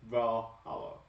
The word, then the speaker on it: Valhalla: Is that how you say it? Is that Valhalla? Yeah, you killed it. Okay. Because if that's not how you pronounce it, that's how it should be pronounced. Valhalla.